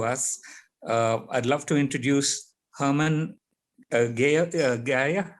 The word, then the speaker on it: Hermann Gier: I'd love to introduce Hermann Gier. How would I pronounce that? Hermann Gier. Hermann Gier.